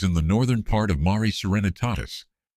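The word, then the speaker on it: Mare Serenitatis: The landing site was in the northern part of Mari Serenitatus pronounced ma nitatis the sea of serenity one of the dark basaltic plains visible to the naked eye on the lunar surface.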